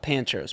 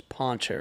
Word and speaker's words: Pancheros: Not pancheros. Poncheros.